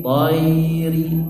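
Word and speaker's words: الطير: Ila tayri, tayri. Ya-nya dibaca jelas, tayri. Ri-nya pendek.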